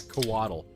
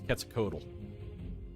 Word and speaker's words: Quetzalcoatl: That is not how you pronounce that. It's not Coatl. It's Quetzalcoatl.